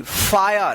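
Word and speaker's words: fire: तो यहां पर आई के जस्ट बाद आर ई रहता है तब आई का आया उच्चारण होता है।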